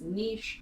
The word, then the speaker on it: niche: It's pronounced niche, team niche.